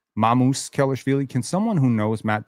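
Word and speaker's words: Sandro Mamukelashvili: Notice I'm saying it correctly. Mamoose Kellishi.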